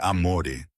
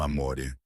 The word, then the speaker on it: amore: É amore, ele murmurava. Não amore. O é mais suave assim.